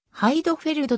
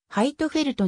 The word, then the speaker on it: ハイドフェルド: 出身のレーシングドライバー日本ではハイドフェルドと表記されることが多いがドイツ語の発音でははいとフェルトに近い音となる元回 1